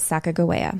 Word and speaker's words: Sacagawea: fine so we're gonna we're gonna pronounce it Sacagawea yep just the way you would pronounce it if you were learning how to pronounce things all right not much